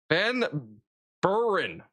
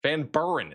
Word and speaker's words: Van Buren: Van Burn. Van Buren. Is that not what I've been saying? I'm so confused. Thank Joseph for the gift. Thank Burr. Three syllables.